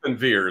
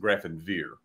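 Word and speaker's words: Grafenwöhr: And Grafenwehr is what it's called. That is, yeah, okay. And but it's spelled, it looks like Grafenauer, but they pronounce it Grafenwehr.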